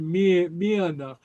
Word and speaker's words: mianach: Sort of a Y, sort of just an H by itself. Mianach, yeah, Mianach, Mian, yeah, Mian, yeah. It sort of disappears, but it provides a break between the vowels, if that makes sense.